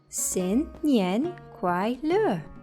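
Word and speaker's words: 新年快乐: Xin Nian Kuai Le," said Bo.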